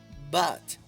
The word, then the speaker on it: but: Así que al igual que en study, debes de poner tu boca como si fueras a decir una a y pronunciar una o. But.